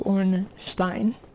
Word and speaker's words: Ornstein: So, like when when you're pronouncing German words, you see an E and an I together, you pronounce um the second of the two. Like if it's IE, you pronounce it with an E. And if it's ei, you pronounce it with an I. So, orstein.